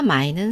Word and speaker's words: 卖: 사다 마이는 삼성이고 팔다 마이는 사성이에요.